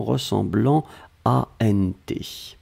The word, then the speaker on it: ressemblant: Hein, c'est pour ça qu'on le prononce vraiment ressemblant ANT.